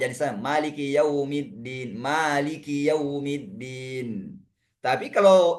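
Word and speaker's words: مالك: Karena sifat hams pada huruf kaf itu bisa disebutkan atau bisa tetap terbaca tanpa khi tapi dengan qi biasa. Maliki.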